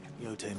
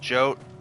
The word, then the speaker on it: Jote: Yote mentioned blood-red petals. It's pronounced Jote.